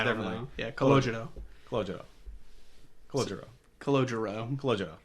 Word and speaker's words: Calogero: Is Calogero, is that how you say it? Calogero, yeah. That's how you would say it if you're Italian. Yeah, Calogero.